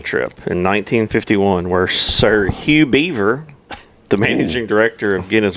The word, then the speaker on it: Hugh Beaver: He should know that Hugh Beaver with a silent G. Yeah. Otherwise, it'd be Huge Beaver.